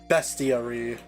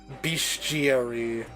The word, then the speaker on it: bestiary: looked up how to pronounce bastier discovered that it is bestiary in British pronunciation and beastiary. No, I say beastiary.